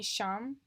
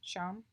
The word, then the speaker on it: SAHM: after getting married, and it's going to be Sham. That's how I pronounce it, right? Sham.